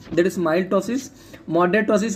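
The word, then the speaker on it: ptosis: Is called the moderate टॉसिस. Okay, moderate और यू कैन say sorry that is called the severe टॉसिस. Okay, severe टॉसिस. तो piece में silent रहता है.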